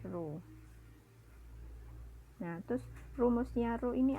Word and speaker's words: rho: Ini bacanya rho.